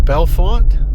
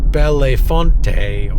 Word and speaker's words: Bellefonte: governors that came from Belfont. By the way, that's how it's spelled and that's that's how it's said. Belfont, not Bellonte or Bellonte or anything like that. It's Belfont.